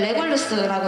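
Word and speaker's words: Regulus: 이건 레골루스라고 읽어요.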